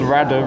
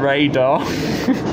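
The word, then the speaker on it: Radyr: All these American missionaries I work with, they called Radder Radar. So I think the mispronunciation police will have to come to Wales.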